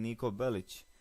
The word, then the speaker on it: Niko Bellic: popular of course being Niko bellich and yes that's how you pronounce it anyway um niiko bellich